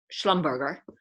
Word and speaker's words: Schlumberger: have heard of them schlumberger to use the german pronunciation um based in vienna